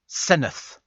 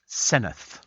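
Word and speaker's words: Senedd: here that says uh the Welsh Senate is actually the Senate pronounced senith senith so that's what it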